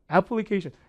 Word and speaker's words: application: 많이 정말 많이 쓰는 application. 강세 어디 있을까요? 우리 그냥 application 우리말은 이렇지만 영어는 리듬을 타서 찍어줘야 되는데 강세가 여기 있어요. 그래서 발음이 application이 아니라 application 이렇게 써요.